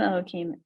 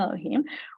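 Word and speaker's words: אלוהים: B'Tselem Elokim, in this case, I'm even saying it wrong, right? It's B'Tselem Elohim. We're all created in the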